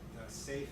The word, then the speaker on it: SAFe: a scaled agile framework it used to be just saf but then they wanted to pronounce it so they put a little e at the end so you can call it safe but uh that so